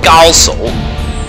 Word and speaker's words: Gao Shun: Or in the actual pronunciation would be Gaosu, but I liked it the Korean word better. Gosu.